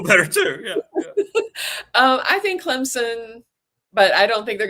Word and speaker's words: Clemson: Clemson. I finally learned how to say it right, thanks to you. Clemson.